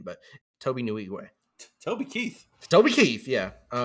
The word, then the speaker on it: Nwigwe: His name is it took me forever to figure out how to pronounce his name, but Toby Nwigwe.